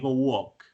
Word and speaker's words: walk: escucha cómo se repite palabras como wow por ejemplo la l no suena miren un wok de seguro o una